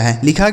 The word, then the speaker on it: hall: तो इस ए का उच्चारण क्या होगा, अगर किसी शब्द में ए के बाद डबल एल लिखा हो तो इस ए का उच्चारण दोस्तों अ के रूप में होगा।